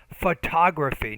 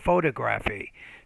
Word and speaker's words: photography: so delivery you are having some problems for example word stress photography not photography so sometimes when you're